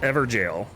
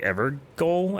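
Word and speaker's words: Evergaol: checkpoint thingy and see this is pronounced ever jail I was like ever goal ever Gale I didn't I didn't know but apparently ever jail and I was like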